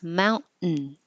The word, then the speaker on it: mountain: the T position mount it's the same as the in position so just hold it there and make the in noise mountain mountain so um I'll do